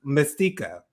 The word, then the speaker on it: Masika: She has taken it upon herself to sue Masika. It's no T in it. I mean, Jonathan. It's Masika. It's Masika?